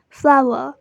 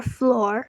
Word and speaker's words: flour: is also pronounced as Fla-wr and not as flour or floor. So they are both to be pronounced as Fla-wr and are homophones, but you certainly can't bake a cake using daffodils, lol.